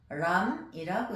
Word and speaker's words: 옴람: 옴남은 범어로 옴람이라고 읽는데, 그것은 옴 광명이요, 이런 뜻이 되겠습니다.